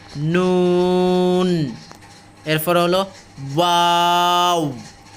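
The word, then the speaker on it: ن: তারপর হলো নুন, এগুলো নাকের ভিতরে হালকা একটু লুকাবে, নুন।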